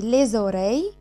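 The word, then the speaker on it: les oreilles: طب ايه الزاد اللي اتنطقت في ليزيو ليزوري دي؟ احب افكركم تاني ان اي كلمه بتنتهي باس الكلمه اللي بعديها بتبدا بفويل زي زيو لان الاجراك فويل او ليزوري لان الاو كمان فويل. الاس دي بتعمل حاجه اسمها ليزون كانها بتلحم في الكلمه اللي بعديها وبتتحول نطقها لايه؟ لزاد.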